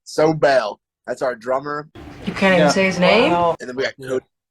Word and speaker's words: Sobel: Sobel.